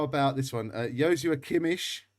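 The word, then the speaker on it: Joshua Kimmich: it's tough isn't it um okay um how about this one uh yosu akimish that's the correct pronunciation by the way uh yoshi kimmy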